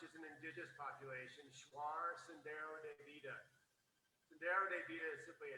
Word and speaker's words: Sendero de Vida: And can you please pronounce the name of the film? Absolutely. Shuar, which is an indigenous population. Shuar Sendero de Vida.